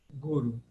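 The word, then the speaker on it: गुरु: Então, as duas vogais são breves e a pronúncia é simplesmente guru, guru. E Guru. ela seria para nós paroxítona, ou seja, aqui no Brasil a gente fala guru, mas no sânscrito o mais correto é guru.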